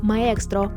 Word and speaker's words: Maextro: авто класу superлюкс з назвою прочитаємо як Maro Саме так він Звучав на презентації правда сильною китайською вимовою цей бренд на ринок